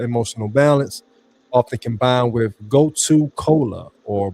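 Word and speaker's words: gotu kola: Often combined with goto cola or brahmy. Go to cola is it's spelled go t u k o l a or bra.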